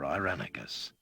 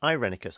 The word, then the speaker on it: Irenicus: Already you have felt the influence of those working against your search for Irenicus. So it's pronounced Irenicus. I've always been going Irenicus, haven't I?